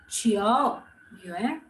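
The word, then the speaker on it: 九月: The Chiao, it goes up and down. Chiao Yue.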